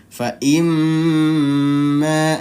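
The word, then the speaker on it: فإما: Imma dia ditahan dua ketukan. Nah, ditahan dua ketukan atau dua harakat.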